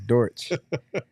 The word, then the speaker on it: Dortch: it's dor you gotta you gotta we gotta pronounce that right man not dorch it's dorch it's like uh my my my wife she's